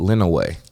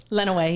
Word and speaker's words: Lenawee: when I found out you pronounce it Lino way Lenawee yeah I know it's l-e-n-a-w-e-e I never knew it's pronouncing like that it's like yeah yeah